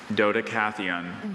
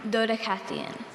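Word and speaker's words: Dodecatheon: Doddicaththeon. Doddicathon. Are there any alter pronunciations? No, there are not. Okay, repeat the word. Dodacon. Dodacathon.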